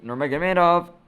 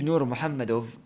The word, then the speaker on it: Nurmagomedov: versus connor when habib nurmagomedov or let me just say it right why did i say the american eyes way habib nur muhammad versus conor mcgregor that